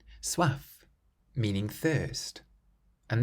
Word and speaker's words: soif: The next word, soif. Soif, meaning thirst. And this word ends in an F, which is one of the careful consonants, so you can pronounce the F soif.